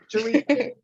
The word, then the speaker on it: Jerica: the D is silent. Right, Jerica. I thought so. That's why I was so confused just now. Jerica. Because I know the D is supposed to be silent.